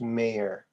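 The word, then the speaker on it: Mayer: oh oh it was always spelled m-a-y-e-r but pronounced mayor meyer meyer yeah i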